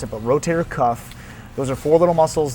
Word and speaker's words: rotator cuff: rotation, which stretches the internal rotators of the rotary cuff. It's actually called the rotator cuff muscle group. A lot of people mispronounce it, but rotator cuff, those are four little muscles that they provide